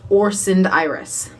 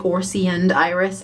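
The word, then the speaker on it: Orseund Iris: are currently watching that it is pronounced orson iris it's on the shirt it's on their instagram i just didn't know what i was doing or saying so i said i think i said something like orsie and iris i haven't even edited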